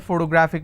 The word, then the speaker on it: photographic: And the rule says if I have a word ending with IC, I need to stress on the second last syllable. So I'll pronounce this as geographic. If I have another word, photographic, somebody has a photographic memory. So what are the syllable break? It's pho-to-gra-phic. And since it's ending with IC, I will stress on gra.